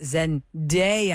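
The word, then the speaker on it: Zendaya: way it's it's not Zena it's Zen Z and I always have to think about it before I say her name it's Zen DEA think of what a great day is yeah zen zen I'm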